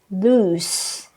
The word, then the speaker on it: loose: loose shirts again it's the pronunciation is loose s sound all right we have